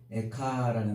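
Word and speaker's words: איכה: 이 슬프다라는 말, 이 말이 에카라는 말이라고 그랬죠. 그래서 우리말 에가랑 비슷해요.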